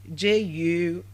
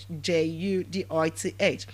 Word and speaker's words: Judith: Judith. Judith. I said the name is pronounced as what?